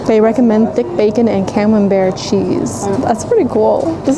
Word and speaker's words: Camembert: your food and the camembert, how you say it? Camembert. What? It's B-E-R-T. It's French.